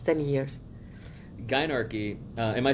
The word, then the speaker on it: Gynarchy: Gynarchy, am I saying it right?